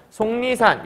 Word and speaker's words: 속리산: 니은 만난 거네요 그럼 앞에 있는 기억이 변해야 되는 거니까 최종 발음은 속리산 요렇게 발음이 되겠네요 아 이거 b음화에 대한